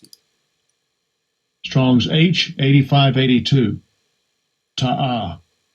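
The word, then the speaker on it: תָּעָה: How you pronounce it? Strong's H8582. Ta'ah. Ta'ah.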